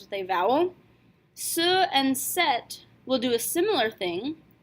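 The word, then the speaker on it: cette: We do not have to worry about this with feminines because the feminine singular demonstrative is already pronounced set.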